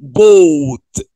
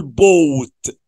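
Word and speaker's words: bought: يشتري باي الماضي بتاعه اسمه بوت بالاو يو والجي اتش سايلنت ونقول بوت حلو قوي باي بوت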